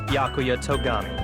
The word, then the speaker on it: Byakuya Togami: Byakuya. I assume that's how you pronounce it. Introduction? Come on, Hajime. You're not gonna have the voice actor, like, confirm it for me? My name is Byakuya Togami.